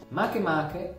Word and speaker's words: Makemake: penso di pronunci così, Makemake, Gongong, Eris e Sedna. È Makemake e non Makemake perché è un nome di un, cioè un nome hawaiano, ok? Quindi non si pronuncia Makemake ma Makemake.